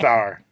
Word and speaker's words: Bauer: Is it pronounced Bauer or Bauer? It's pronounced Bauer.